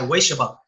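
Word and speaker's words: Ueshiba: Wei, like W-A-Y, Weishiba.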